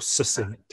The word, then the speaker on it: succinct: in an articulate and succinct way, or succinct, if you want to pronounce it with soft C's.